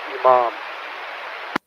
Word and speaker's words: Imam: Pronounced Imam.